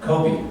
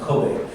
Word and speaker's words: Kobe: Kobe so much that he named his son Kobe, but it's not pronounced Kobe.